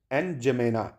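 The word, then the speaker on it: N'Djamena: एन जमेना, एन जमेना, ठीक है। एन जमेना, D silent रहता है, ठीक है।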